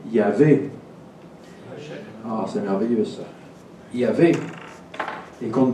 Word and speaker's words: Yahvé: ah, c'est merveilleux ça, Yahvé, et qu'on ne prononce jamais, eh bien, qu'on retrouve dans Abraham, merci. Alors c'est un V ou un W, hein, c'est un vav en hébreu.